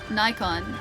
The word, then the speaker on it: Nikon: Nikon. Nikon or Nikon? Uh I think are both acceptable pronunciations.